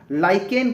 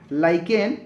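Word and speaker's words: lichen: निर्माण होता है ठीक है 22 वां प्रश्न लाइकेन क्या है ठीक है लाइकेन क्या होता है लाइकेन का spelling L आई सी एच ई एन होता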